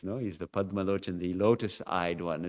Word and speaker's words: Padmalochan: But of course, Bengalis would pronounce that something like Poddolochan.